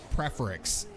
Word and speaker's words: Preforex: ElOmarMaton 4-1 now against Preforex, or Preforex. I think that's how he pronounced his name. I heard him say it the other day, and I realized I've been saying it wrong. Preforex.